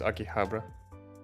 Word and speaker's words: Akihabara: Akibahara? I'm sure I'm butchering. Just Akiba for short. Aki. Otherwise, it's Akihabara.